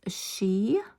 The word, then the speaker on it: Sidhe: It is pronounced she. It's an ancient Gaelic name for the noblest order of the fairy race.